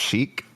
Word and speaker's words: Chic: Tangled Up In Blue 1975 you said it's pronounced chic Chic yeah okay that song Freak Out say